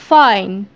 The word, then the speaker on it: fine: بعد كده عندنا fine. Fine. Fine بخير أو كويس. Fine. نخلي بالنا برضو الإي في الآخر ما تنطقتش. بس خلت الآي تتنطق زي ما هي.